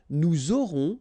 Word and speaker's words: nous aurons: J'aurai, tu auras, final S not pronounced, il aura, elle aura, nous aurons, final S not pronounced, and then you make the liaison, vous aurez, a Z